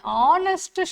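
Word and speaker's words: honest: ஹெச் இங்கே என்னென்னா silent. H மியூட்டடாக இருந்தது வேர்டு இல்லைன்னா தேர் வி யூஸ் ஆன். எங்கே ஆனஸ்ட் மேன், அப்போ இதை மட்டும் தானே ப்ரொனவுன்ஸ் பண்ணுவோம். அப்போ ஆனஸ்ட் மேன் வவ்வல் சவுண்ட் வருது.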